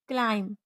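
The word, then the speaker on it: climb: बी जब एम के बाद और टी के पहले आए तो साइलेंट रहती है। जैसे बम, थंब, क्लाइम, डाउट, डेट और सेटल।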